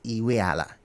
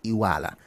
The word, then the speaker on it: Iweala: So when you hear the name, you don't say it as Iweala. It's Iwala.